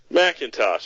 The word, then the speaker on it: McIntosh: Macintosh, as in the computer.